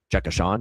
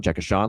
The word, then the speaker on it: Jay Sean: you is the song that I referenced with Jay Sean. Uh that's I thought I thought that was the obvious one. I mean, come on. That's And that's how his name is pronounced. It's Jay Sean, Jay Sean, let me rock you, Jay Sean.